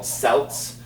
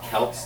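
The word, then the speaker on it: celt: that so that you could drive the wedge through and these are called selts. I used to call them kelts until I learned better. It's spelled the same c e lt.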